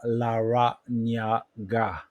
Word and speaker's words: Larrañaga: It is called Por Larrañaga. It's 5 syllables. Por, which means four. You can pronounce it like Pour, Por, and then Larrañaga. Nya, it's the Nya, Spanish Nya, pronounced Nia.